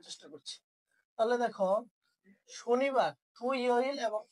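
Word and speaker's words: 토요일: উচ্চারণ গুলা কি আমার সাথে সাথে করে ঠিক করে নাও। তাহলে থু ইয় ইল শনিবার, ই রিয় ইল রবিবার, ও রিয় ইল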